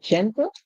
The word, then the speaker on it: gentle: same sound you know a lot of persons may have said g and gentle but if youve done that you are so incorrect one of the things that you should always look for in English most words in English that comes when the G comes before e i y you would hear a song like J always try toeat that